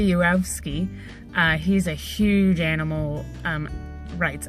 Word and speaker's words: Yourofsky: came across Gary Yourofsky when I first saw his last name, because it's spelled U-of-O-F, Sky, and I was like, you of Sky? And then I heard some people say it in their videos. I was like, oh, duh. So Gary Yourofsky, he's a huge animal rights activist.